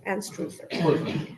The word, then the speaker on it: Anstruther: Is that how you pronounce it? Anstruther. Welcome, Brian. Thank you. That's perfect.